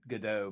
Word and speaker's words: Godot: It is pronounced Godot, by the way. I just say it wrong all the time.